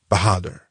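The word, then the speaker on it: Bahadur: It sounded something like this. Yzunai Bahader with the accent on the last syllable bahader. and the A sounded like a in hark.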